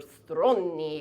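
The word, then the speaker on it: стройный: Svelte, or stronni, as we say in Russian, which rhymes with horny, which I am, and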